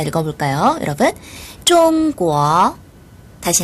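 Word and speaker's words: 中国: 될겁니다 네 그러면 중국이라는 나라 일반적으로는 좀 뭐라고 발음을 하거든요 요구하면 큰 소리로 달 읽어볼까요 여러분 좀 꾸어 다시 한 더 좀 꾸어 다시 한번 좀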